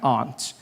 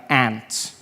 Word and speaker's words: aunt: For instance, I pronounce the opposite of uncle as aunt. I say my aunt. Out here, you say my aunt, which to me is an insect, which made me look like an ass when my friend told me his aunt died.